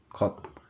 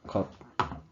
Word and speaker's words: 컵: The 피읍 받침 has a P sound at the end. So for example, E plus 피읍 would be 잎. And then 거 plus 피읍 would be 컵.